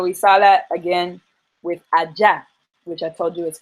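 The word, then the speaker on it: agya: So the Ja has no J in that word, but it's spelled A-G-Y-A. But that G-Y makes a J sound.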